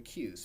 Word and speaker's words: queue: next data structure the cues about qu eue and pronounced well just the first letter so the cue is